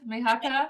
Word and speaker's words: Mihaka: Her name is Mihaka. Hopefully I've pronounced it correctly. Oh, you have, Mihaka.